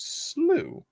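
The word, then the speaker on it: Slough: where we're going sloo okay pronounced sloo is it english fun yeah this wonderful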